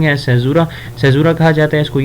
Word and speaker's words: caesura: تو اس literary device کو سیزورا کہا جاتا ہے، CAESURA. یہ اس کی اسپیلنگ ہے سیزورا کہا جاتا ہے اس کو.